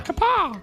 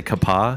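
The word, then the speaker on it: Kapaa: But you know how their vowels kind of have a division between them? Yes. Yeah. It's spelled K-A-P-A-A. So it's like kapa. Yeah. Kapa. So I sometimes say kapa because I'm super white, but it's kapa.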